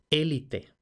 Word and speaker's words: élite: ¿Y por qué en España solemos decir élite si corresponde élite? Pues también porque en francés se escribía la E con acento agudo que representa E cerrada, no acento prosódico, pero en España esto se entendió como que el acento iba en esa sílaba.